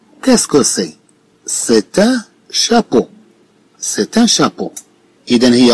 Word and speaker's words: chapeau: Bien sûr, avec la prononciation du mot chapeau, on entend le son O.